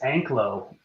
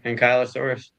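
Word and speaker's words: Ankylosaurus: I always thought it was Anglo versus anky. I thought it was Anglo too but you pronunciation thing. Yeah. Ankyosaurus.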